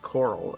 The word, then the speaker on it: Coral: And when I was growing up, this specific chain, Coral, it's pronounced Coral, okay. Alright. Cool. What are we doing? We're just following the road, I guess. Where's the path we were on? It's pronounced like coral.